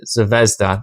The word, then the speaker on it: Zvezda: All right, moving along, we have some like little Zvezda. I always forget how to say it. Zvezda.